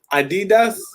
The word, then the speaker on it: Adidas: So, the question, Jules, how do you say Adidas, or how do you guys pronounce Adidas in Germany? Adidas.